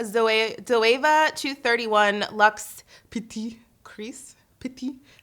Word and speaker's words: petit: Petit. The T is silent.